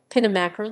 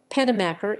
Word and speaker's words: Penamacor: pedimacker penomacher portuguese pronunciation pinomacher listen or penimaker is a municipality in